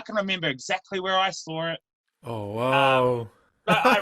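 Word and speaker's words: És: es es uh skateboards i think they pronounce it s but i've always called it is skateboards but it's a specific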